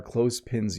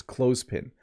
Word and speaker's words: clothespin: It's clothespin. So you don't have to say the TH as a the sound.